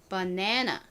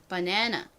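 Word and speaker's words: banana: 다음 단어로 넘어가 볼게요 영업식으로는이 단어를 바나나 바나나 요렇게 발음을 한다고 했었는데요 특히요 가운데 부분에 강세가 빡 들어간다고 말씀드렸었죠 자 따라해 볼게요 바나나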